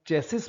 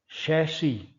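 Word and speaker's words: chassis: अगला शब्द आमतौर पर लोग चेसिस बोलते हैं और यह चेसिस नहीं होता है। यह शब्द होता है शैशी।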